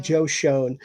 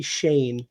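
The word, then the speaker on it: Schoen: because it's spelled shown it's c-h-o-n-e so i pronounced it joe shone and his daughter corrected me and was like it's actually shane but you did good you tried ah yeah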